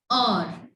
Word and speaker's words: hour: In many words, the letter H is silent when comes in start of word.